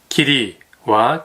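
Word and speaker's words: 義理: 일본문화연구소 국화와 카레는 기리와 기무에 대한 이야기가 나옵니다. 기리는 의리의 일본식 발음이고요.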